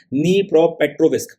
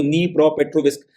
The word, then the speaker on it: Dnipropetrovsk: अब यहां पे आप इसकी स्पेलिंग में डी देख रहे होंगे मगर इसका प्रोनंसिएशन मैंने बकायदा गूगल किया है क्योंकि अपन हिंदुस्तानियों में से किसी से इसका प्रोन्सिएशन होगा नहीं उसमें मुझे पता चला कि डी साइलेंट है इसको नी प्रोपेट्रोविस्क के नाम से प्रोनाउंस करते हैं तो रशिया ने ये